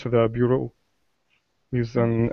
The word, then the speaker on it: bureau: I feel funny saying it because it's a French word and I want to say it the French way. Yeah. Yeah. But the English way is like this be sound. Beer bureau. Bureau. It doesn't look like a b be ber. It's like be beer. Yeah. Yeah. Beer be beros. No, but it's something different. Yeah, it sort of sounds like there's a Y in there.